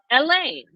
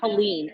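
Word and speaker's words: Hélène: the wrong way, because the pronunciation of my middle name, which is Helene, is Helene. It's the French pronunciation, and everybody's calling it Helene.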